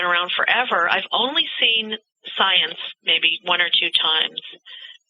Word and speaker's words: Psience: just called science yeah science because you know when we talk about Psy PSI activity the p is silent the term Psy has been around forever I've only seen science maybe one or two